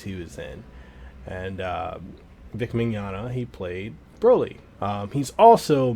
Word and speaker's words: Mignogna: voice actor called vic Mignogna yeah I didn't say Marana Mignogna I said manana it's it's Italian so I want to